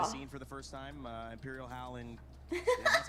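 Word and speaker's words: Imperial Hal: Imperial Howl and that's how you say it, right?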